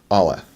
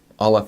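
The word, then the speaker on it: אלף: Now the sound that this makes is a little bit strange. It doesn't make one at all. Aleph is a silent letter, and so no sound will be made from it.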